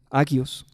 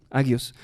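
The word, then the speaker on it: ἅγιος: Santo proviene de una raíz griega que se dice agios. Espero pronunciarlo bien, agios.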